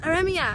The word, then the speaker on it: Aremia: Oh, Iremia. You could say it. Did I say it right? You don't have to roll the R.